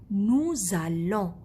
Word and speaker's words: nous allons: Nous allons. Here there is Z because as we pronounce it, Z. There is A after.